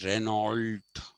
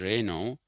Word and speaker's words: Renault: So just like we don't say Renault, it is Renault.